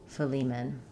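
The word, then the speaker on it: Philemon: And lastly, in film, we stress on the second syllable lee. Letter E says the E sound. Again, we have ph for letter F. Phmen. Fleimman. Filiman.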